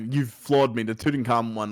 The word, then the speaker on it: Tutankhamun: It's Tutankhamun.